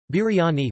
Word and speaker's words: Biryani: Biryani, pronounced bir-ya-ni, also known as biryani, biryani, biryani or